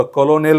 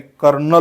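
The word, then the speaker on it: colonel: या शब्दाचा चा उच्चार बऱ्याचदा मुलं कलोनेल करतात याचा करेक्ट उच्चार कलोनियल होत नाही कर्नल होतो काय होतो करेक्ट उच्चार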